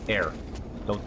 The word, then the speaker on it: heir: Aragorn is Isildur's heir. Don't read that as hair, Mike. I know it's spelled like that, but it's not how that word is said.